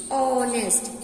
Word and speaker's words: honest: Ram is a an honest boy. Look student, H is a consonant but ist sound is honest. Here H is silent.